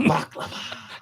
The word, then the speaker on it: baklava: Good baklava. Like it's supposed to be. You gotta say it right. Coochie. Right. Pronunciate from the throat.